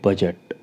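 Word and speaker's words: budget: और एग्जांपल लेते हैं बजट बी यू डी जी ई टी तो जी से पहले डी है वो साइलेंट रहेगा सीधा प्रोनाउंस करेंगे बजट बजट लेखा झका लेजर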